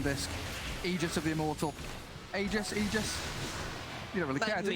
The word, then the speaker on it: Aegis: Aegis. You don't really care, do you, Lacoste? We had a patch where it was said that it's pronounced Aegis.